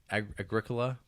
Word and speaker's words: Agricola: You like that Agricola? Do I like the Agricola? That's a game. Agricola? Agricola. It's spelled like Agricola.